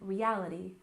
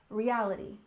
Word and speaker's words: reality: we have reality TV we stress the second syllable in reality reality and of course TV